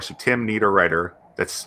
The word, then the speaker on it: Niederriter: That's Tim, Tim, Need, Writer. So Tim Niederriter.